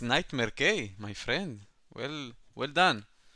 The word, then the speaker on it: NightmareK: boys yes yes oh okay you know you pronounce my name correctly it's nightmare K my friend well well done good good um